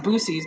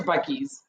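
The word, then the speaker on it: Buc-ee's: I see Bucky's, and I always pronounce it Boosie's, but I know it's Bucky's.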